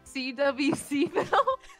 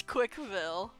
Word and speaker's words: CWCville: CWCville? It's Quickville. A vibrant community with good people and average...